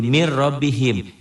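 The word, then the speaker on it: مِنْ رَبِّهِمْ: jadi hudal hudal Lil Muttaqin Min rbihim jadi min robbihim yubayyin Lana jadi yubayyinana bunyi n-nya hilang melebur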